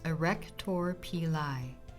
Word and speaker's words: erector pili: The erector pili, pronounced erector pili.